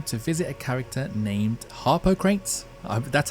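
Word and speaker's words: Harpocrates: of the game to visit a character named Harper crates that's how you pronounce it that's how you spell it Anyway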